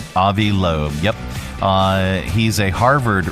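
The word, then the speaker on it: Loeb: Uh researcher Avi Lo, is that how you pronounce his name? Avi Lo. Avi Lobe.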